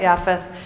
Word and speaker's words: Japheth: and yeah right right how do we pronounce with the j or y right yaphth japheth right no j in in hebrew right so we know